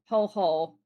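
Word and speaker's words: hohō: Um, H O with an accent on top of the second O. So, it's a drawn out O. Ho ho.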